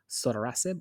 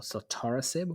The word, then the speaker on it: sotorasib: And finally, in the lung space, we have sotorasib or sotorasib, whichever way you'd like to pronounce it, versus docetaxel in pretreated KRAS G12C mutated advanced non-small cell lung cancers.